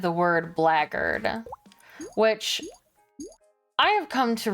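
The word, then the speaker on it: blackguard: in like Medieval Times is spelled like Black Guard but they pronounce it like it's got a bunch of G's in it right but the subtitles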